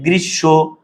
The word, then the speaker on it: গ্রীষ্ম: যেমন ভাইয়া গ্রীষ্ম, বর্ষ, বুঝছো কিভাবে এটার উচ্চারণ কিভাবে হয়? একটু ভালো করে দেখো তো ভাইয়া, গ্রীষ্ম, বর্ষ, যে শব্দের মাঝে বা শেষে যদি মফলা থাকে, মফলা যার সাথে আছে সে দুইবার হবে।